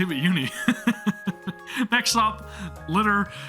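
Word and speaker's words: Liter: Next up, Litter. Some people may pronounce it Leader. It's Litter from what I understand.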